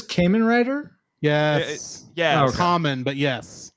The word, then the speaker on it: Kamen: Common, but yes. it's pronounced common.